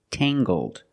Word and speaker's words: tangled: describe her hair and say her hair is Tangled using the nasal sound and the hard G